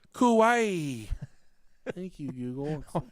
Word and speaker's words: Kauai: I cannot pronounce Hawaii names let's do that pronunciation it's like Hawaii both okay Kawaii Kauai thank you Google how do you sound Asian